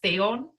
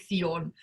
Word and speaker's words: Theon: I've added an accent, so it's now meant to be pronounced Theon, like Theoden King. Okay. But I still read it and think Theon, which is I'm gonna